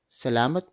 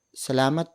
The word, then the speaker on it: salamat: with the vendor you thank them by saying salamat PO salamat PO salamat PO it means thank you word